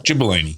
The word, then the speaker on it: Gibellini: Gibellini with a J. Gibellini with a J. Yeah. But spelled with a G.